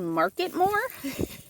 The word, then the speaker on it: Marketmore: it's called mmore I think it's actually called marketmore um I've been saying it wrong but yeah